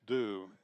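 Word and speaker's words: Diew: is first team second Thomas du pronounced d it's spelled D i ew and Thomas D does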